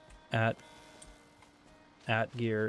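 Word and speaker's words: atgeir: At gear is the correct Scandinavian pronunciation.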